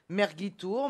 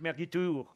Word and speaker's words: mergitur: Ça se Mais- prononce Merguitour, mais...